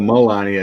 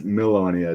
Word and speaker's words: Milonia: See, Ivana wrote, "Hey guys, Caligula's wife was named Milonia instead of Melania. It's Milonia. It's spelled a little different."